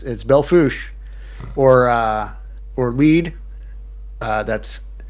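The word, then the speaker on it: Belle Fourche: There's a great town called Belfouche, and it is not written that way, but it's Belfouche, or lead.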